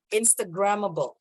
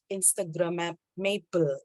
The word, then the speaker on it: instagrammable: yeah there you go instagramable even um there are so many Indonesians making the mistake of Instagram Maple Instagram of maple I